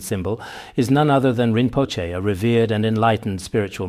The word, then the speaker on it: Rinpoche: Some people often pronounce it as yinboki, a unique pronunciation. This precious treasure, often referred to as the wishfulfilling jewel, a sacred and potent symbol, is none other than rimpoche, a revered and enlightened spiritual master.